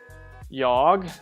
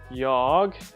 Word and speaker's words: jag: In Swedish, the letter A is pronounced in 2 ways, A and A. And you have to just learn that. Many times when it's an A is followed by 2 consonants, it's A.